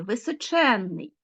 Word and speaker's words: височенний: Ну уже ви думаю звернули увагу що всі ці суфікси наголошені височенний здоровенний численний нездійсненний несказанний незліченний звернули увагу да от запишіть собі обов'язково і поставте наголос це все такі суфікси